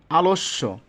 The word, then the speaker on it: আলস্য: দুইবার হয়ে যায় অদম্য আলস্য এখানে একটা জিনিস খেয়াল রাখতে হবে এখানে যদিও বানানটা দন্তস জফালা কিন্তু এটা উচ্চারণ কেমন হচ্ছে এস এইচ এর মত আসতেছে এজন্য কিন্তু দুই জায়গায় তালবস্য ব্যবহৃত হয়েছে আলস্য অবশ্যই কিন্তু আমাদেরকে